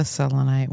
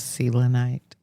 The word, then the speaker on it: selenite: I have a selonite one, also known as selinite. Selenite depending on your pronunciation where you're from preference you